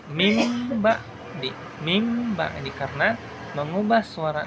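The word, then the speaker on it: مِن بَعْدِ: Lafaz min ba'di itu harus dibaca dengan mim ba'di. Mim ba'di.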